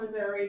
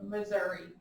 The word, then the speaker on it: Missouri: here's something that we have available in springfield missouri because cox health systems is based in springfield missouri not missouri missouri as an educator that just irks me